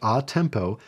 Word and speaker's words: a tempo: to gradually speed up atempo and that's how it's pronounced atempo means to resume whatever